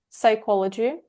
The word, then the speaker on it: psychology: Blog about psychology, astrology, Psychology. psychology. А psychology это что? Психология. Мы пи не Psychology. читаем в начале. Оно с пи пишется, но пи в начале не читается.